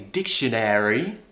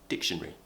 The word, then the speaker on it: dictionary: where this happen where we kind of lose the sound right we call this a lesion in words so for example Library we don't say library we usually say library dictionary I don't say dictionary I say dictionary dictionary so it happens a